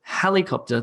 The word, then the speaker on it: helicopter: for example in English for the word helicopter the emphasis the word stress is on the beginning of the word on that first syllable helicopter we don't say helicopter helicopter that would be wrong because it sounds weird instead we say helicopter this is kind of